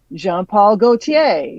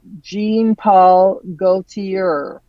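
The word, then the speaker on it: Jean Paul Gaultier: Jean-Paul Gaultier is Jean-Paul Gaultier, not Jean-Paul Gaultier.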